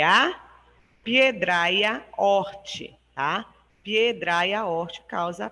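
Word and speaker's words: hortae: O horti se escreve H-O-R-T-A-E. Esse A-E ele fica com o sentido, com o som de I, tá? Horti.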